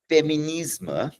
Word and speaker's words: féminisme: So, the term feminisma, I'm pronouncing it with the French accent, first appeared in France in the 1830s.